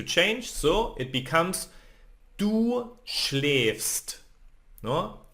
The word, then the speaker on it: schläfst: And second person, so I told you that we need to change, so it becomes du schläfst. No? A with the dots, it's pronounced like ä.